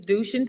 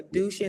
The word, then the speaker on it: Dushin: Her name is Dushin Priyan. So to help you out, it's Du and then Shin, like the shin on your leg. So Dushin, and then last name is Priyan.